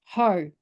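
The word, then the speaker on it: Hau: But I guess with my family name is H-A-U, which has always been pronounced Ho, the Māori name.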